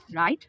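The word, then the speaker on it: write: র্যাপ, রাইট, ring, এরকম অনেক শব্দ আছে যেগুলোতে ডাব্লু সাইলেন্ট থাকে।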